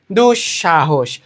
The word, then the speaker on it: দুঃসাহস: যেমন দেখো এখানে একটা দুঃসাহস, কি দুঃসাহস, এখানে দন্তস্ব আছে, কিন্তু আমরা দেখো দন্তস্বের উচ্চারণটা কি স বলি নাকি স বলি? উচ্চারণটা কি হচ্ছে? দুঃসাহস নাকি দুঃসাহস? দুঃসাহস।